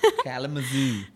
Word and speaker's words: Kalamazoo: Is that even how you say it? Kalamazoo? No, it's Kalamazoo. Kalamazoo.